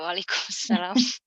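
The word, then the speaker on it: وعليكم السلام: Wa'alaikumussalam.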